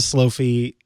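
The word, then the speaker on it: Slofie: better and there's a slow fee that's just horrifying by the way folks slow fee is spelled SLO fi e so please for the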